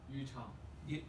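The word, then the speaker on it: Yuchao: Utah. How do you spell it? Y-U-C-H-A-O. Y-U-C-H-A-O, Utah, okay. Right. Good. Sort of like you, it sounds like Utah almost, okay.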